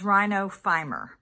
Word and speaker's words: rhinophyma: Okay, how to pronounce it is Rhinophyma.